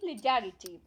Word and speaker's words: legerity: आर आई टी वाई और इसकी pronunciation क्या हुई लिलिट यह एक नाउन है